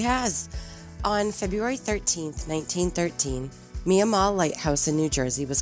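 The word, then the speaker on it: Miah Maull: of strange that the name of the lighthouse is usually pronounced mia mall but it was named for nehemiah mall can't quite figure that out but mia mall lighthouse was auctioned by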